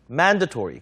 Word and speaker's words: mandatory: 발음이 좀 어렵죠, 여러분? 이름절 강세. mandatory.